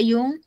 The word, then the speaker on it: yong: Yong dibaca yung jadinya.